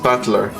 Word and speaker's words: Battler: It's made up of the characters for fight and person and it's pronounced battler.